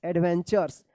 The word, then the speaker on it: adventures: एडवेंचर्स, देखिए यहाँ पे ADVENTURES, एडवेंचर्स. देखिए यहाँ पे टी के बाद यू है और लास्ट में RE है, तो क्या है कि इस TU का च उच्चारण होता है. क्या होता है? च.